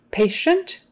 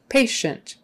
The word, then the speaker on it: patient: paralyzed paralyzed eyes paralyzed patient the ti is a sh sound patient patient patient but not